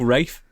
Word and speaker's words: Ralph: Because it says Ralph, and I've got a dog called Ralph, and it just makes me think of Ralph. Oh, yeah. Well, start calling your dog Rafe, please.